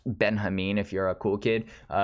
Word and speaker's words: Benjamin: translator of this walter benjamin or actually it's pronounced benjamin if you're a cool kid who knows that this is a german author and that's how they pronounce benjamin in german but anyways this a